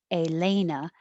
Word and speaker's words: Elena: So if you want it to sound like Elena, then maybe stretch it longer so they can hear that it's Elena.